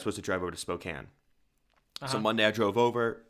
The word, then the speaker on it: Spokane: is it not Spokane so I was saying Spokane and then a couple locals were like you know you're saying that wrong it's Spokan it's spelled s p o k a n e n e mhm Spokane you would think